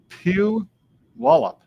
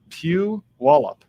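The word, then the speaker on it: Puyallup: So, this is how you pronounce that city. Pew Wallup. Pew Wallup.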